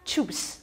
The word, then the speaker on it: Chups: chups，chups，合在一起是 chuba chups，chuba chups，那是怎样的一个单词？